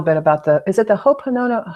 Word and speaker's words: Ho'oponopono: know a little bit about is it the Ho'oponopono? How do you say that practice? What is it called? If you could say that again. Yeah, Ho'oponopono.